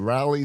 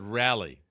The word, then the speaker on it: Raleigh: as I had to go- Pulled over in Raleigh, North Carolina, to go to Raleigh. a You children's. mean Raleigh? ER. That's what I said. Yeah. Raleigh. You said rally.